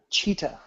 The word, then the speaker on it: Cheetah: Cheetah. Rhymes with PETA.